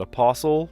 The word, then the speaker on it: apostle: Apostle, Depot, Mortgage, and Poirot. Speak for yourself. The apostle, T does not, you don't pronounce it in English, but in lots of other language you do pronounce the T.